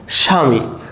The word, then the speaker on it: স্বামী: অর্থাৎ বফলা যদি শুরুতে থাকে সেই বফলার কিন্তু কোন উচ্চারণ হয় না।